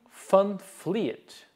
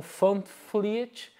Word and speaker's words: van Vliet: desse autor chamado Ping Funfliet, né? Se escreve com V, mas fala esse V em Dutch, né? Em holandês. Ele é holandês, tem som de F. Então, Fund Fleet escreveu esse livro High